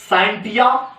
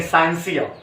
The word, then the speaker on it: scientia: है जिसका नाम है SCIENTIA, साइंटिया, या आप कह सकते हैं साइंसिया, ठीक, और सा जैसा भी प्रोनाउंसिएट कर सकते हैं, साइंटिया या साइंसिया।